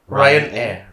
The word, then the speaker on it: Ryanair: Ryanair. Like you're Brian.